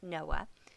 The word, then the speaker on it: NOAA: It's actually the National Oceanic and Atmospheric Association, pronounced Noah.